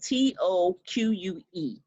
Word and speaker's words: toque: to look up how to pronounce it because it's spelled t-o-q-u-e and so that is arabic for hat it's